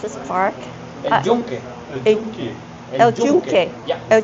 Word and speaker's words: El Yunque: How do you correctly pronounce this park? El Yunque.